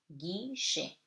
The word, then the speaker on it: guichet: The letter U is silent before G. So it before EIY. So it gives you guerre, guichet.